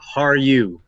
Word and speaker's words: Harju: Harju.